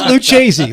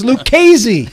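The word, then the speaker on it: Lucchese: Who the hell pronounces it Luchi? Where's he been? And these five families have been around since 1920. It's Lucesy. CCH in Italian is a K sound.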